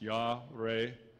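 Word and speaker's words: יָרֵא: 111:9 it's Yar y a r e pronounced Yar and it's uh a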